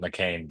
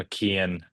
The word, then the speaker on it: McKean: Is it Mcken or is it McCain? Uh, my family pronounces McCain, but I've gotten a different a bunch of different pronunciations throughout my life, so I'm kind of used to just hear whatever. McCain. How what's what's the strangest pronunciation you've gotten? Uh, I think McKon is like the one that like sticks out because like I don't know.